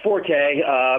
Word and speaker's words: Forte: And the odds on favorite, F-O-R-T, does it pronounce it Forte or Fort? It's Forte.